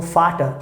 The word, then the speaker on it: Vater: We pronounce like F, so Vater.